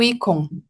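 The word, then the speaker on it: ICOM: Perdoe a a a falta de pronúncia, é o Icon. Ah, perfeito. Icon. Eh, e a sua atuação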